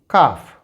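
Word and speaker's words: calf: एल E silent so it's pronunciation will be काफ काफ यहां पर L silent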